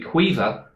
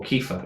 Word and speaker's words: Caoimhe: The so second one we had on our list was Kiva, They do. dependent. Did It they can say be- that? yeah, it can be pronounced two different ways.